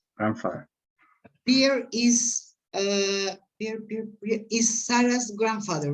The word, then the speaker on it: Sarah's: Okay, Rosie is Sarah's, you have to pronounce the S, right? Is Sarah's Yes.